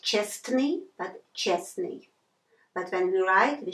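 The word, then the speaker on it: честный: so it will be pronounced it should be pronounced Chesney not just me but Chesney but when you ride we shouldn't forget about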